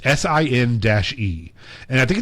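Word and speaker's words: Sin-é: I used to say Chennai. I don't know. It's SIN-E.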